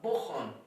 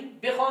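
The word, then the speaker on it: بخوان: शुमा इन किताब रा बुखान, बुखान यानी बेखान होता है, लेकिन अब आज जदीद फारसी के अंदर उसको प्रोनाउंस किया जाएगा तो बुखान किया जाएगा।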